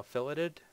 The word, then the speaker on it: fillet: They are now filleted. It is pronounced fillet.